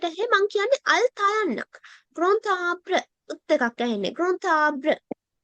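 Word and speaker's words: grand arbre: දැන් ඔන්න අපි d එක කියවන්නේ නැහැ. d එක silent. මෙතන බලන්න ඔන්න d එක silent letter එකක් කිව්වා. ඒකට පිටිපස්සෙන් අර abra කියන වචනේ තියෙනවා. abra කියනවා අපි tree. ගසක් කියන එක. එහෙනම් ඔන්න vowel එකකින් පටන් අරන්. එහෙනම් silent letter එකක් පිටිපස්සෙන් vowel එකකින් පටන් ගන්න වචනයක් තියෙනවා නම් අපි ගන්නවා liaison එකක්. එහෙනම් මෙතන මම කියනවා gruntabra කියලා.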